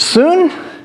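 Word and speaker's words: σύν: Soon, tereo. Everybody say soon? Mm-hmm. It's spelled like our English sun.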